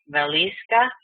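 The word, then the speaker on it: Wieliczka: pronounce this properly because he said the W is a V and the C is probably an S so valisa salt mine if that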